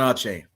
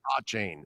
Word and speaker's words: Achane: A chain? Is that how it's pronounced? Is it a chain or is it a Caney? It's Devon Achane. Achane? Devon Achane.